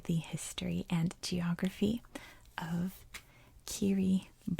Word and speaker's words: Kiribati: have the letter s so anytime you see a t i together that's an s sound so that is how this country's name is pronounced kiribati as you can see kerry boss is a series of